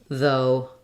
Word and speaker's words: though: could even think of though that way and sometimes people write that in casual writing so there's no sounds for those gh's some words with GH